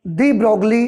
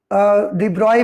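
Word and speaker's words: de Broglie: इसीलिए इनके सपोर्ट में, बोर के सपोर्ट में वैज्ञानिक आए, और डी ब्रोगली जिनका नाम था, डी ब्रॉय भी कहते हैं बहुत सारे लोग इन्हें, कोई प्रॉब्लम नहीं है प्रोनाउंसिएशन से इस तरीके का।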